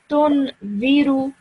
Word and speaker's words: تنذر: this dhal over here, the correct way of pronouncing it is to say it with your tongue touching the top of your teeth. Okay? Tunziru.